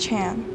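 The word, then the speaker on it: 禅: sculpture in 1991 and the major chinese cicada and zen are both pronounced chan wu ching uses this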